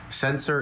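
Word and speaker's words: censer: Sensor is a vessel for burning incense.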